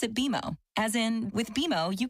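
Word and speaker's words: BMO: when you do I bet you'll call us BM o don't worry it's more common than you think but we actually pronounce it beo as in with beo you can earn a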